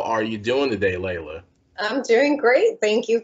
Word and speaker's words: Leila: have her here how are you doing today layla i'm doing great thank you for having me and i'm also wildly impressed you pronounce my name right you're one of the